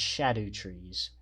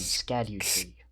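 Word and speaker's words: Scadutree: They're technically pronounced shadow trees, We pronounced some Skadu tree for the longest time.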